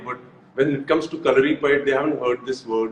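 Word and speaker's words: Kalaripayattu: so calorie pad, Hrithik, I'm so proud of the fact that you said the name correctly because in India I Thank don't you. see many people saying it right.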